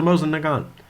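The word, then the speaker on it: Mosin–Nagant: nagant nagant excuse me why did i pronounce it wrong it's a moza nagan oh it's russian sorry uh bolt action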